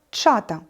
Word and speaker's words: чата: на екран перше слово чата наголос на першому А Чи можемо підібрати синонім